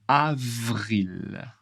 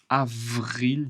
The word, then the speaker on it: avril: Avril avril. V ici ça bouge, ça tremble un peu. Avril beaucoup d'air.